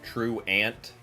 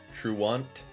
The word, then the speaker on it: Truant: Because we're between Truant and Truant. Are like kind of the two current trains of thought. Gonna take that opportunity and plug the Discord. The egg basket Matt is mentioning. Just go ahead and plug the Discord there. Truant. Okay. Truant. Not Truant.